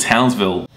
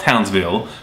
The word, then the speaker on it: Townsville: Up a little further is a tropical tourist town called Townsville. It's spelt Townsville, but the locals call it Townsville, so they don't pronounce the I in there.